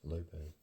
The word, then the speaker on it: Lopes: as her I think the only difference was like the Zed and the S were different it was the end letter it was Lopez but they both pronounced exactly the same Lopez and so right before